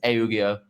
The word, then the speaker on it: Eugeo: So as it stands, the pronunciation as we understand it from down the pipeline, down the grapevine, is Eugeo.